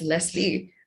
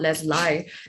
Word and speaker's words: Leslie: but hey do note it's pronounced as leslie not let's lie because i clearly would